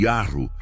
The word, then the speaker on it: Yahu: Vários estudiosos hebraicos apontam que a pronúncia correta do nome se assemelha ao som da própria respiração. O Yah ao inspirar e o U ao expirar. Um lembrete constante de que Yahu está presente em cada vida que respira.